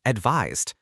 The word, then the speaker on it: advise: Advises, advising, advised. For example, she advised him to wait. The pronunciation for advise with an s ends with a z sound like realize or surprise.